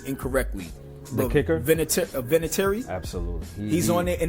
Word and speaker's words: Vinatieri: I keep fucking pronouncing his name incorrectly. The kicker? Vinatieri.